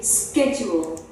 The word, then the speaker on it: schedule: Americans say this with a hard sound. They say schedule.